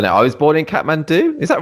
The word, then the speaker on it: Kathmandu: I was born in Kathmandu. Is that right? The pronunciation? Yeah, Kathmandu, Nepal.